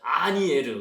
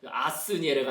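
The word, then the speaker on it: Asnières: 아니에르, 그죠? 아스니에르가 아니라 S는 묵음이다. 그래서 아니에르다.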